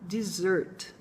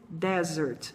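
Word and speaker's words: dessert: o mundo bastante confusão o correto é para anunciar desert ea maioria dos alunos acaba pronunciando como se fosse desert que é deserto lembrar que dizer 'te é sobremesa então o correto é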